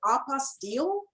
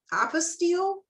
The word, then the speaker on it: apostille: say it is it apostille is it apostille is it apostille well there's variations because the word you know came from from the French but it's whatever you